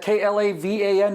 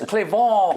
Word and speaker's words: Klavan: Klavan, is that K-L-A-V-A-N? No, it's C-L-E-Q-U-E apostrophe V-A-U-G-H-N. It's Klavan. It's pronounced Klavan.